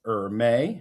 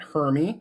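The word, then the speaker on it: Hermès: So, Axel Dumas is the CEO of Hermes, pronounced Hermes, not Hermy like you used to call me uh back in our problematic middle school years.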